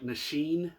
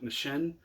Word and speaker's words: Nissin: I heard a pronunciation the other day that I was saying too much like Nissin, which apparently is incorrect. It's more like Nissin.